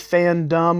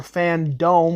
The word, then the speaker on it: FanDome: if you will called dc fan dumb or fan dome whichever way you want to pronounce it works for me and today we're going